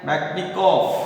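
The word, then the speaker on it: Metchnikoff: इसका pronunciation METCHNI, ये बनता है मैक्निकॉफ।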